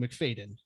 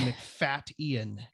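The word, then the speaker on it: Macfadyen: that that is that we always thought it was Matthew McFadden it is not it is Matthew mcfat Ian it is Matthew mcfatian wondering if you're wondering how to pronounce the man's name there is a glottal stop it's like Matthew McFadden that's you mcfadian um a wonderful film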